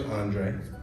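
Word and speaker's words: Andrae: Well, my name is Andre, and growing up, everybody called me Drae, for short. But it's spelled A-N-D-R-A-E.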